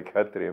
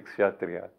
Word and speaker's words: Kshatriya: The Kshatriya, well, I pronounce it the Bengali way, Kshatriya, but it's in India, Kshatriya. The Kshatriya is, he does good for others in material ways, in outward ways, in thing ways.